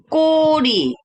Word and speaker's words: 꼬리: bacanya 꼬리. benar, 꼬리. 꼬리야. 더블 그야. 더블 그 jadi 꼬리.